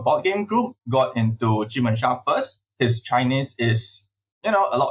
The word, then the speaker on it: jubensha: Okay, so first of all, I need to commend your pronunciation of JUBENSHA.